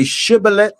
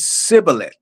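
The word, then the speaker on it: שבולת: fighting one another and one tribe was able to say shibillet and the other tribe says cibillet. And you would know who was on uh which side because of the pronunciation. Some would say ciilate and some would say shibilith.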